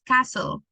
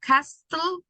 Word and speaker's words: castle: In this, you don't pronounce the, let's see, because we don't pronounce letter T. So it's castle. Instead of castle, Okay, castle.